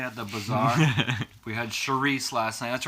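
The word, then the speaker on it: chouriço: but you say it like Charisse, Yeah, yeah. it looks like Chorico, but it's pronounced Charisse.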